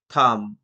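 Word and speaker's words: thumb: ঠিক একই রকম ভাবে কুম, থাম, থামনেল, যা চর্চিত বিষয় আমাদের ইউটিউবে, আমরা থামনেল শব্দটা ইউজ করি।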